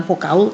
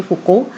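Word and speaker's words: Foucault: terutama dari fuko ya jadi Bacanya adalah fuko ya bukan fokaul tapi fuko jadi E fuko ini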